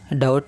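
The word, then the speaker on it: doubt: Remember one thing guys, डाउट में जो बी है वो है साइलेंट वर्ड, जिसका मीनिंग होता है नॉट श्योर, जिसका हिंदी मीनिंग है संदेह करना।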